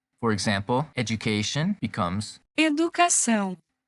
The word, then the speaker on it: Educação: The first conversion we have to learn is that TION words in English change to São. in Portuguese. For example, education becomes Educação. Educação.